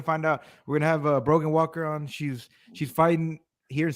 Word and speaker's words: Brogan Walker: Miss Brogan, how you pronounce the name of you? Brogan Walker.